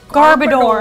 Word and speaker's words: Garbodor: that there's a way to the Garber door garbodor I was I've always said it garbage Horace